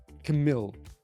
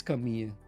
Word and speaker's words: Camille: So people think you pronounce it Camille. No, it's a French name. And then you say, oh yeah, but I mean, you speak it in Dutch. No, because when you go to Google Translate and you type in Camille and you let Google pronounce it, you get Camille. And this is in Dutch and in English. So guys, it's Camille.